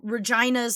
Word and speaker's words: Regina: witness protection programmed to Regina's Saskatchewan. What? That sounded like a disease. That That's literally the name. And you pronounce Regina like vagina.